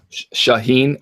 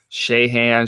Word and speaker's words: Shaheen: I think sh-she Han Shahin you'll hear everyone butchered everywhere they're like Shay hands shy shy shy shy I